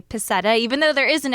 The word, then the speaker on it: Pascetta: right so it's not pachetta even though it's got the s and c together well technically it's probably pachetta oh well then our